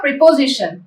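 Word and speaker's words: preposition: प्री होता है आपका PRE, प्री, पो, PO होता है पो, जी ऐसा ही होता है जी, शन, शन TION।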